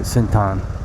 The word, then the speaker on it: Central: Thai folks pronounce it Sintan.